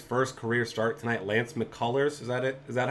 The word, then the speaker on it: McCullers: righty making his first career start tonight lance mccullers is that it is that how you say